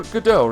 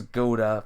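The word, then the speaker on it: Godot: Mr God do go gdau rather what is the meaning of this I can't get used to that to the pronunciation it was always Goda for me for the longest flipping time gdau I warned you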